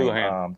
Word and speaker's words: Houlihan: We just got confirmation from Dad that is how you say the name. It is how you say the name. Houlihan.